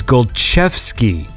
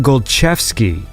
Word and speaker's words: Golczewski: It is Golczewski. like ch. It's a ch, a ch sound. So it's Wojciech Golczewski, like that.